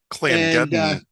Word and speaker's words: Clangeddon: He's a dwarven cleric of Clanagiddon. I've been actually looking up pronunciation on that. Clangeddon.